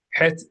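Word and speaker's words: ח: readers of the Torah who would pronounce the letter het like an H. And they would do that because it's very similar to H, but it is not an H.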